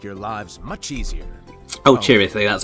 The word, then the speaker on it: Chirithi: Oh, Chirithi, that's how you pronounce it.